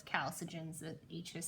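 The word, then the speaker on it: chalcogens: electrons in their outer orbit they bond with kal surgeons it's a funny word it kind of looks like you should say Chelsea jeans but no it's kal surgeons that each is silent okay and then we also react with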